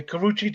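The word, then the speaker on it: Karrueche: incident with the other girl who I can't pronounce her first name. Last name is Tran. Karuchi. Karuchi Tran? Mm-hmm. Mm-hmm. Okay, Karuchi Tran.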